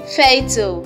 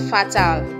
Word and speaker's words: fatal: abattoir not about you you pronounce this as fatal not fatter thanks for watching